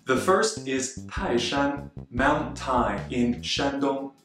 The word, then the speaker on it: 泰山: In Taishan, the first character, Tai, is a fourth tone, and Shan, which we'll use many times today, is a first tone. Together, they are read as Taishan, Taishan.